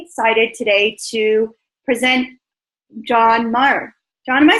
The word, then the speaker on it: Maher: And I'm really excited today to present John Maher. John, am I saying your last name right? Yes, John Maher.